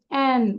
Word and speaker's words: and: এই যে আমরা অ্যান্ড দেখতে পাচ্ছি না, এ অ্যান্ড ডি, এই ডিটা আমরা প্রোনাউন্স করব না। Don't pronounce D, just অ্যান্ড, rice অ্যান্ড chicken, rice অ্যান্ড chicken, rice অ্যান্ড chicken.